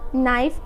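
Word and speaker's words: knife: Next है के के बाद अगर एन आता है तो के हम लोग का हमेशा साइलेंट होता है, जैसे नो, नी, नाइफ and knock.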